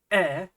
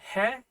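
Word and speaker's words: へ: to remind you that when you see the Hiag he it's sometimes pronounced e basically it's E when it's used in a particle specifically the particle that indicates direction of movement trust me I'll cover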